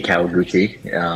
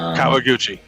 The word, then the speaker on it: Kawaguchi: So where does, and I don't know how you pronounce what comes after the K, where does that come from? Kawaguchi. Kawaguchi.